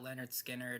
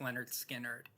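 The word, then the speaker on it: Lynyrd Skynyrd: One thing I really did like about Leonard Skinnard is that they clearly had a strong focus on the musical aspect of it all.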